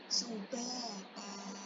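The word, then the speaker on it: سُبَاتًا: Sama juga pada ayat ke-9 waja'alna naumakum subata. Sama tak fathah tain bertemu alif posisi di akhir ayat. tidak dibaca subatan tapi subata gitu.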